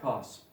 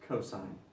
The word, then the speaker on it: cos: abbreviation for cosine again you do not pronounce that cost no we pronounce it cosine so we have cosine of a equals by definition adjacent over hypotenuse mr.